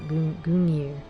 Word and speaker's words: Gungnir: I can never pronounce this weapon correctly. Gungnir.